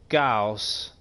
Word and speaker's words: Gauss: In case you care, you pronounce Gauss like Carl Friedrich.